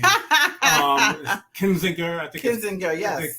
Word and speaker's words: Kinzinger: from Illinois uh name is Adam I can't pronounce his last name um kininger I think kinger yes kinzinger um and he said and he and one